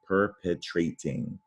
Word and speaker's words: perpetrating: And in this case, add an ing, perpetrating, perpetrating. That's a long A there because it used to be that silent E.